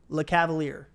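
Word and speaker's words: Lecavalier: okay good nice all right so your next one Jamie Ben or Vincent Le Cavalier is that how you say it yeah okay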